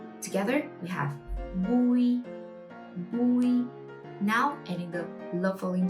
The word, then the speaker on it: Bùi: Together, we have Bùi, Bùi. Now adding the low falling tone, Bùi, Bùi.